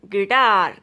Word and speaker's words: guitar: Rule of silent letter U is U often silent after a G and before a vowel. Guard, guitar, guest, guilty, gas, guild.